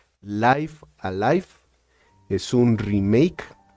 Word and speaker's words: Live A Live: de un juego que voy a pronunciar como Los japoneses que lo crearon dijeron que se pronuncia Life Alive es un remake y